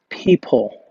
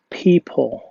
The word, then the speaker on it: people: now, and it is people. People. Again, people. Okay, دي أول كلمة ومعناها الناس وإحنا بننطقها لازم ناخد بالنا من حرف أو صوت ال P فنقولها people. People.